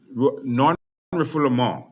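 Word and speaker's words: non-refoulement: All right non non reformul is the actual pronunciation. It's a French word, non-referable.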